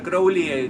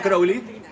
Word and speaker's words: Crowley: referencia a la Argentina, si quieren saber cómo se pronuncia, es Crowley, no Crowley. Ozzy Osbourne dice Crowley, pero Kenneth Anger decía Crowley, así que yo voy a decir Crowley.